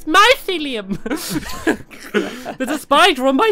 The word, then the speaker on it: mycelium: say what it's actually gone pretty here it's mycelium nice Liam mycelium here no mycelium it just sounds like you're a kid you can't speak properly saying about saying it's my ceiling it's mycelium but the spider on my Fillion I'm gonna